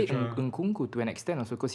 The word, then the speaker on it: Nkunku: Nkunku to an extent also because he was at PSG and wasn't really doing much, and then he moved out. Yeah. Say Made Nkunku again.